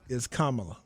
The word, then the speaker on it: Kamala: So I do want to make a slight correction because I was joking at first, but just so we know, it's Kamala. That's how you pronounce my fault.